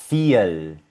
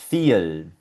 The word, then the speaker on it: viel: En alemán siempre va a sonar como una F. Y aquí la vemos en varios ejemplos. Por ejemplo, esta palabrita suena Vorname. Esta palabrita de aquí suena viel, viel.